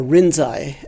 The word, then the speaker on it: Rinzai: Zen Master Rinji, or Rinzai as the Japanese pronounce it, has an interesting expression.